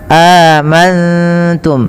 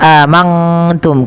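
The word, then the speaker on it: آمنتم: Cara membacanya nunnya samarkan kepada huruf ta. Amantum, bukan hanya amantum. Kalau mantum, maka dia berubah daripada makhrajnya.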